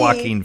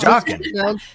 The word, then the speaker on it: Joaquin: Joaquin Phoenix? It- 'Cause that's how his no, name looks like no. Jockin.